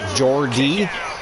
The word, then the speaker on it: Geordie: Geordie?